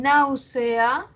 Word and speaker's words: náusea: En náusea también es una palabra esdrújula, ¿no? Primera sílaba, nau. Segunda, C. Tercera, A. Ya, ahora, ¿cómo las cuento desde el final? Última, penúltima, antepenúltima. Nau es la sílaba que tiene la mayor fuerza de voz, es la que tiene el acento, la tónica.